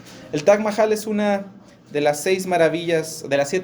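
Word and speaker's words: Taj Mahal: quería platicarles acerca del t Mahal conocen el T Mahal no se pronuncia así pero así lo decimos aquí en México El Tac Mahal es una de las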